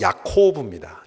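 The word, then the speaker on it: יעקב: 것을 히브리어로 읽으면 야곱은 히브리어 발음은 야코브 야코브 그리고 보강은 보입니다 그리고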